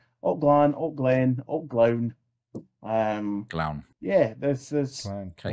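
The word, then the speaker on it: Gleann: Alt. Glown. Rhymes with clown. Clown. Like clown with a G. Clown with a G. Or glown, yeah. Like a gangster clown. Not glean.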